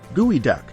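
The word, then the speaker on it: geoduck: number nine gooey duck the gooey duck pronounced gooey duck holds the title of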